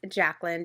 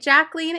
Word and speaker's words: Jacqueline: Next, we meet Miss Jacqueline. Jacqueline is really, really sweet. By the way, sometimes people in the show call her Jacqueline.